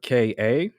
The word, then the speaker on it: Ka: a modest reward by kha which is uh ka that's how you pronounce his name um hip-hop next we